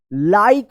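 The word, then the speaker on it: like: यहां पर रूल्स देखिए लास्ट में इ आया है तो इसका कोई उच्चारण नहीं होगा और इ से पहले वाला वोवेल आई आया है तो यहां पे आई का आई उच्चारण आपने रूल्स में पढ़ा था तो क्या पढ़ेंगे इसको लाइक चलिए इसको पढ़िए टी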